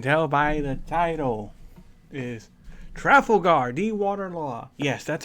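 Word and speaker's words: Trafalgar D. Water Law: as you can tell by the title is trifle Guardi water law yes that's how you pronounce his actual name yeah I have to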